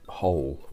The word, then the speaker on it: whole: complete entire hole and is that with a with a silent w wait a second so